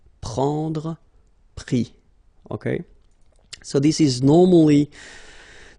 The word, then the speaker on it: pris: And then prendre, so E-N-D-R-E will give I-S, pris, okay. Same thing here, you don't pronounce the final S, okay.